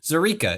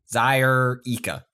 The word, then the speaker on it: Zaireeka: Zyrika. It's kind of phonetic. Zyrika. Zaireeka.